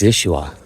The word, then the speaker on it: Yeshua: When I heard a Hebrew say Yeshua, they don't even pronounce the Y, it's Yeshua.